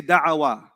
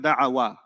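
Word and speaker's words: دعا: They're not going to say da'awa, he invited. They're not going to say that. What sounds a lot better than da'awa? Da'a. Da'a.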